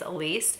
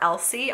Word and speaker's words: Elise: Her name's Elise, and people call her Elsie all the time, and that drives her crazy because people don't take the time to look at the way something is spelled before they say it.